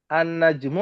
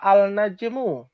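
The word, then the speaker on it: النجم: Annajmu apa? Alnajmu. Annajmu. Nah, jadinya ada alif, ada tasdidnya di situ nunnya. Tadinya nunnya kan enggak ada tasdid najmun. Ketika ketemu alif lam, nunnya jadi bertasydid.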